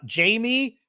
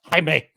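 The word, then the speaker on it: Jaime: starts with um uh Jamie Reyes oh I'm sorry it's pronounced Hae it's pronounced Hae more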